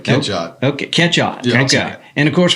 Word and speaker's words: Catchot: Now, have I pronounced that right? Yeah, that's right. Catchot.